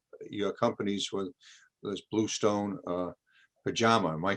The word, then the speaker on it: Pachama: This is a huge area, and I think in both your companies with this Bluestone, Pachama. Am I correct? Am I pronouncing that correct, Cindy? Pachama. Okay, And it's Pachama.